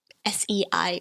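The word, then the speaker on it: 死: cantonese sei is pronounced s-e-i with their tone but it also sounds very similar to sei in the second tone which means death or to die so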